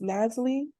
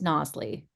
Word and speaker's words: Nosley: And then correct me if I'm wrong, but is it pronounced Nasli? Is that correct? It's Nosley.